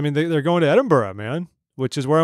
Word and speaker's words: Edinburgh: wrong and you jump all over me it's pronounced Edinburgh Edinburgh Edinburgh his wife's Lindenberg now States of